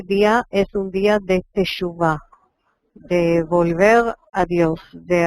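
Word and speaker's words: תשובה: Teshuvah.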